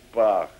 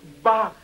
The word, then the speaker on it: Бах: С тех пор прошло 40 лет, господин Пах. Пах! Меня зовут Бах, господин Гандер.